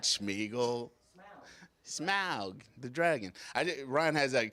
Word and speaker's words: Smaug: So, Ryan, if Smaug needs a buddy, you can take her Nick's home, and they can run around and have a good time.